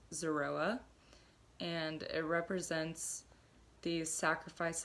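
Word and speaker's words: זרוע: lamb shank bone or in Hebrew it is pronounced Zorua and it represents the sacrifice of the Lamb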